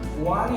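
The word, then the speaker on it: one: কি এন হবে, কিন্তু ও যদি ওয়ার মতো উচ্চারণ হয় তাহলে এখানে এ হবে।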